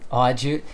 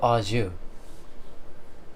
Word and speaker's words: au jus: You said aw, juice sounds good, but there's this stuff called au jus. And au jus is like what you dip your steak into. Looks like it's spelled au juice. That sounds yummy. It's Jous though instead.